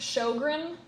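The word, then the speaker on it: Sjögren: It's pronounced shogun. I don't know how they get show from SJ, but that's what it is.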